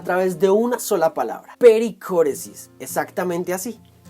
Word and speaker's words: pericóresis: Pericóresis es una palabra griega usada altamente en las esferas teológicas. Por ejemplo, palabras como perímetro y círculo vienen de la primera sílaba peri, y danza armónica viene del griego kóresis, lo que quiere decir que pericóresis es como una danza.